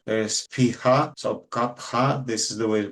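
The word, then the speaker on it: कफ: uh kapa digestion and it is called kapa not kafa because Sanskrit does not really pronounce the sound f there's pha so kapa this is the way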